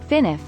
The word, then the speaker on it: FNAF: a horror film Freddy's often known as FNAF pronounced finif isn't simply a fun